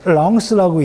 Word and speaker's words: Lens: LENS라고 돼 있죠? 저 랑스라고 읽는데 저 도시는 파리가 아니야.